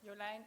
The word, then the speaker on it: Jolijn: I'm Jolijn, or Jolijn if you would pronounce it in Dutch.